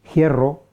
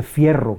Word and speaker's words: hierro: mezcla de rasgos antiguos por ejemplo la conservación de alguna manera de la efe inicial en forma de aspiración o sea se dice hierro no se dice fierro se dice giga lo cogiera